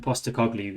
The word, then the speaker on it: Postecoglou: how we see his name okay so and poster cogley is how you say his name this is